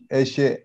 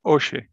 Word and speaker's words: Eshe: Eshe, yeah. Eshe, okay. Eshe or Oshe? Eshe. Eshe. Okay. Yeah. You're welcome.